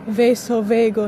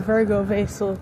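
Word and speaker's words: vasovagal: a form of what's apparently called vaso veagal not virgo vasal cuz I've been calling it the wrong thing for years cuz all sex is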